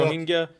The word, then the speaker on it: Rohingya: We've heard about the Rohingya. Am I pronouncing that correctly? Yeah, Rohingya in right.